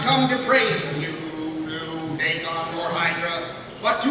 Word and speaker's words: Cthulhu: And you will not be released until you have heard the awful truth about Cthulhu, as an eminent mythos scholar told me it was correctly pronounced.